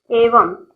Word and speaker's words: evam: I'll give you the spellings. Evam, EVAM.